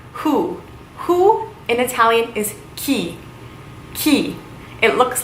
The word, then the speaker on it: chi: Who in Italian is chi. Chi. It looks like chai almost, but it is pronounced chi.